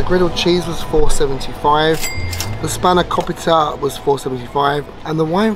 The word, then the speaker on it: spanakopita: We then have the spinach pie, which I can't pronounce. Let me just check how you say it in a second. It's spanakopita.